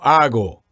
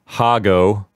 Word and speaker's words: hago: Okay, Antonio, here we want to make sure that they don't pronounce the H at the beginning of these verbs, right? Mm-hmm. We don't want anyone to say hago or hacer.